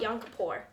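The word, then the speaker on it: Yom Kippur: Now, as I cut up these locks, why don't you tell me a little bit about yonapour? Did I pronounce that right?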